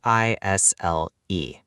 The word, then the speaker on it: aisle: Wait, there is an S? Why is there an S? English is crazy, Lucas. I do not know. A I S L E. Isle.